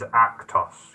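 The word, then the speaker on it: Akhthos: And his name is Actos, yeah? Yes. Shan, do you want to just recap how that's spelled?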